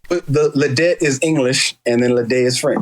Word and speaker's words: Ledet: So my last name is pronounced Ledet because the E-T in French is pronounced A. Right. So it's Ledet. But some people spell it Leday, how it sounds. And then some people, when they see the E-T, they just say Ledet. But the French term is Ledet, but Ledet is fine.